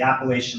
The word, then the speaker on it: Appalachian: They settled at the base of the Appalachian Mountains, and that would be the correct pronunciation in this case, in the gentle rolling foothills of what is now called Sussex County.